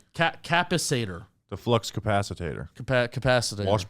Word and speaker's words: capacitor: Capacitor.